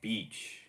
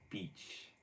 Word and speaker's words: beach: So beach 이 말할 때 이 소리 들려야 돼요. 그래야만 맞는 발음 되는 거예요. beach 이 말하듯이 그 글자 이 말하듯이 beach 이 단음으로 되면은 욕 되는 거예요.